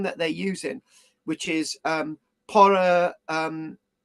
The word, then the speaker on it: porphyry: You spell it out and you get the word.